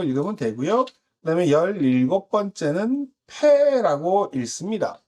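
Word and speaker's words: פא: 패는 피읍 음가를 가지고 있고 영어의 P에 해당을 합니다.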